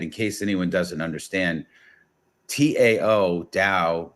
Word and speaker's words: Tao: case anyone doesn't understand Tao da it's pronounced with like almost like a D sound but it it's the